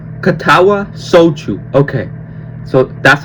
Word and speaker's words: Katawa Shoujo: Katawa sou. Okay. So that's how you say it. Okay. How do you say it slow? Katawa sho.